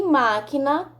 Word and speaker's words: máquina: o q u e máquina também não pronunciamos o que o então por isso são